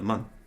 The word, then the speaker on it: Mun: Or the MUN. Sorry. It could be moon, but it's spelled M-U-N. No, it's MUN. I hope it's MUN. It is MUN.